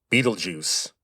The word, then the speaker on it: Betelgeuse: By the way, that is how you say that name, Betelgeuse. Now, the spelling is German, but the name comes from Arabic.